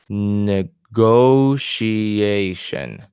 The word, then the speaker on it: negotiation: My stress, I can see my stress is in the second to the last syllable. So negotiation. Negotiation.